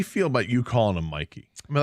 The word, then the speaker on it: Mike: Even though I think it was reported that even though it's spelled M-I-K-E, it's pronounced Mikey.